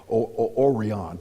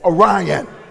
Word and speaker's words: Orion: God and the stars, and they can't even pronounce it right, saying Orion. I say Orion.